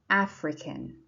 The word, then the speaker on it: Africa: Number 4, the continent is Africa and the adjective is African. Do you see those little underlines? They show the stress. So that means in Africa and African, the stress is on the first syllable.